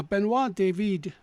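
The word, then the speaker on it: Benoît David: nearly 10 years now benois David uh it's spelled David but it's pronounced with the E on the end as if was born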